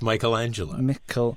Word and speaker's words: Michelangelo: His name is pronounced Michelangelo. Michelangelo. It's because it's the Michael. It doesn't change the stresses in terms of syllables.